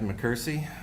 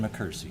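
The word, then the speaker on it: McKersie: Uh, my name is Mccersie. My last name is spelled M C K E R S I E.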